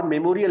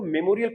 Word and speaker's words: memorial: national war मेमोरियल है तो मेमोरियल को मेमोरियल पढ़ो, ममरियल टाइप का वर्ड नहीं बोलना है, यानी कि प्रोनाउंसिएशन आपको